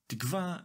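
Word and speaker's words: תִּקְוָה: When used as a name, it is safe to say that most people stress the second to last syllable in the word. It sounds like this: tikva.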